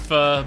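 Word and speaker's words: phở: And yeah, it's pronounced pho, but I went through all of college without anyone correcting me on its actual pronunciation.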